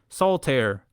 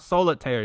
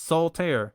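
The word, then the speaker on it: Soltaire: Use promo code soul tear, which is two letter, two syllables. It is not solitire. It's not that card game. It's soul tear. Remove the eye.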